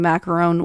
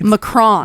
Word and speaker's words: macaron: They are pronounced differently, but we were both pronouncing the Macaroon one wrong. Oh, it's right. actually We're called back to- Macaron. Macaroon Gate, huh? Macaron, All right. because ooh is not a word in French.